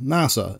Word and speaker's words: NASA: Though this one most likely works, NASA will most likely be spoken out as, well, NASA, instead of N-A-S-A.